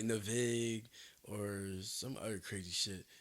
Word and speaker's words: Navig: Like if you just flip the name around backwards, but flip the A and the I and just pronounce Navig.